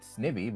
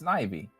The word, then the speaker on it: Snivy: names where it's like I technically understand that Snivy is the proper pronunciation because like obviously the pun is supposed to be that he he he looks he's a snake made of ivy. So I understand it's supposed to be pronounced snivy but snivey sounds better so I don't care.